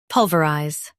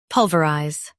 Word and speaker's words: pulverize: Pulverize. Now, read the syllables shown on the screen naturally. Pul. Vuh. Rise. Pulverize. US says vuh. UK says ver.